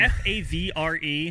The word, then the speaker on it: Favre: have no idea um f a v r e why are we saying Favre even though that is how you're supposed to say it anyway okay sorry probably